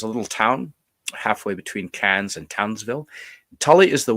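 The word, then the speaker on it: Cairns: little place and here's can's now it's spelled k yes I know but that's not how they pronounce it they pronounce it cans like tin cans and I spent a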